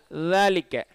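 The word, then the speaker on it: ذٰلِكَ: அந்த மாதிரி நீங்கள் ஜால்னு சொன்னால் கீழேப்படும், அதை நீங்கள் மேலே வச்சு தால் தாலிக்க தாலிக்க. ஆரம்ப சூறாலை வரதில் அலிஃப்லாம் மீம் தாலிக்கல் கித்தாபு தாலிக்க. சரிங்களா? அதை ஜாலிக்கன்னு சொல்லக்கூடாது, தாலிக்கன்னு சொல்லக்கூடாது. தாலிக்கன்னு சொன்னாலும் தப்பு, ஜாலிக்கன்னு சொன்னாலும் தப்பு, தாலிக்க.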